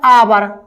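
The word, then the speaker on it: hour: यानी कि कंसोनेंट है अब आप इसको पढ़ते कैसा है आवर क पढ़ते दोस्तों आवर आवर यानी बड़ा आ आवर तो दोस्तों स्पेलिंग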